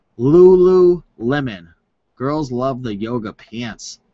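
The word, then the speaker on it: Lululemon: on how to pronounce this brand so it's pronounced Lulu Lemon girls love the yoga pants all right so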